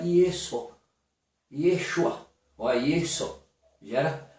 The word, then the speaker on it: Yeshua: que o nome do mestre no aramaico é Yeshua. Se for pegar carregado mesmo a forma de pronúncia mesmo, Yeshua, começa o quê?